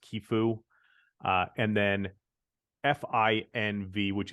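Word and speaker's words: Qifu: lending them themselves uh qfin which is I believe pronounced kefu uh and then FV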